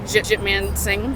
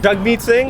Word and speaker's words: Jagmeet Singh: I really do like how do you say his name? Jitman Singh. Jagmeet Singh? Yeah, You like him?